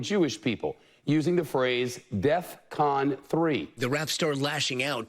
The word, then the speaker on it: DEFCON: But it's DEFCON 3. All right? Not DEFCON 3.